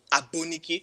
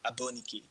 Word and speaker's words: Aboniki: the right intonation is abuniki if i should call it like a nigerian it's like abuniki you know but am